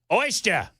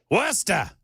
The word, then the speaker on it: Worcester: Nope. Oyster. No R. Worester. That's very close.